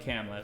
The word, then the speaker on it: Kamala: So I went back 10 years to a video where they called her Kamala.